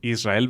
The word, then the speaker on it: Israel: Y la palabra Israel. Israel, ¿ven? Prácticamente es un sonido de dos R's, realmente.